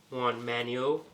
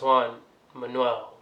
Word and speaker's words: Juan Manuel: much it but why launch the YouTube now Juan Manuel Manuel is pronounced Juan Manuel but to answer your question you know after